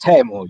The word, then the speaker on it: Teemu: uh timo or table i think the right pronunciation is tamu yes how are you